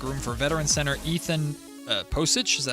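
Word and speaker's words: Pocic: The report says the Ravens waived Pavia to make room for veteran center Ethan Posich, is that how you say his name?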